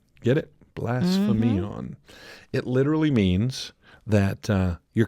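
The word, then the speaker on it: βλασφημίαν: The word slander in Greek is pronounced blasphemion. Mm-hmm. Get it? Blasphemion.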